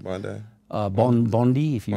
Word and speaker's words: Bondi: beach yeah that's how you say it right Bondi uh Bond Bondi if you wish you go